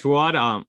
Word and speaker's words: Fuad: It's Fridays with Sandy, and we're here with Fuad. I hope I pronounced that right. Fuad, why don't you say hi to the folks? Yeah, my name's Fuad.